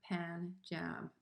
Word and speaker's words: Punjab: rajput from the punjab which i pronounce poon like poon not poon but pan says the poet short a a pan jab a finger in the